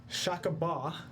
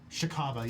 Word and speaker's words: Shikaba: And just as it's about to snatch you off the mountain, a shakaba. Is that how you say it? Shakuba? Yeah, What is that? Shikaba, yeah. Shikaba, excuse me.